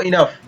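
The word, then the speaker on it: enough: Next है ई ई, फिर एन ओ यू को यहाँ पर न पढ़ेंगे और इसको फ पढ़ेंगे, तो इसको पढ़ेंगे पूरे शब्द को इनफ।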